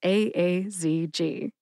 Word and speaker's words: tocilizumab-aazg: relations from fenus cabi I did not know if you were supposed to say it as asj or if you're supposed to say the the four letters as I have learned it is a a z g the only dumb question